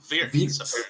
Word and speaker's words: Wirtz: Wirtz. W is a V.